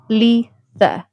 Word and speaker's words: Litha: The name Litha is pronounced lee-tha.